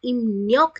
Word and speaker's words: 입력: तो इम्न्योक खादा, अगेन इसकी प्रोनाउंसिएशन थोड़ा ध्यान देके पढ़ना, इब रियोक लिखा जाता है, पढ़ा इम्न्योक जाता है।